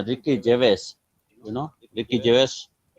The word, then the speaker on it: Gervais: It's Ricky Gervais. You know, Ricky Gervais. It's also a British actor. So it's also starting from G, his surname, but still we pronounce Gervais, Ricky Gervais.